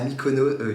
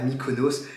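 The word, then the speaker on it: Mykonos: coup 10 jours à micono 10 jours 10 jours oui c'est ça je crois j'ai un erreur de prononciation on part du coup 10 jours à Mikonos c'est juste incroyable la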